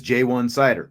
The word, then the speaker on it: Ja'Juan Seider: the house he was asking for the official pronunciation it is jwan cider we got that official today jayan cider is